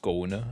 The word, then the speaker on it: Skane: One is Skane, or pronounced Skone apparently, but we will call him Skane.